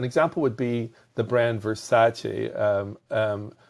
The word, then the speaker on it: Versace: would be the brand versace um some people will pronounce it verse and every time they